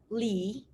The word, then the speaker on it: Le: pronounce this at chen the third one is le but we can pronounce it's like lee yeah and the fourth